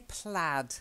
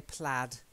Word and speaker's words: plaid: and then we say plaid I know it looks like aid but we actually say plaid plaid is if you